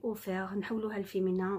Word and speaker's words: offert: Nous avons ouverte, on va mettre T, on ne prononce pas le T, d'accord? Pareil, offert, nous avons offerte, d'accord?